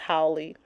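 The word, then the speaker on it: haole: Who had come down howy sorry I'm reading it and but in my mind I know it's pronounced howy Doctor Who had come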